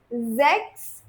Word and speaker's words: sechs: Fünf, sechs, Z sound.